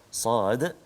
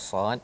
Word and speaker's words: ص: Jadi Sad, ada yang orang baca Sad je, Sa macam tu je. Cara baca dia kena ikut tulisan asal dia. Sad alif dal.